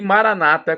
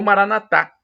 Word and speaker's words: Maranata: E Maranata, como dizem nossos irmãos separados, os evangélicos ou protestantes, ou Maranatá, com a tônica na última sílaba, como dizemos nós católicos.